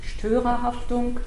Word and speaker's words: Störerhaftung: the doctrine that has been developed, which is pronounced Störerhaftung, not such a difficult to pronounce word, at least for me.